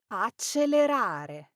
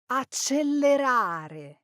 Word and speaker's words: accelerare: say accelerare, accelerare, well, the correct pronunciation is accelerare. pay attention to the L's and the R's in this word. Now, this is another common mistake in Italian pronunciation. Many people say this word with a double L and they'll say accelerare. Now, that's incorrect.